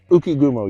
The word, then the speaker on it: Ukigumo: But I added this very cool, this is the, was it Ukigumo? Is that the right way to pronounce that? Ukigumo, yeah.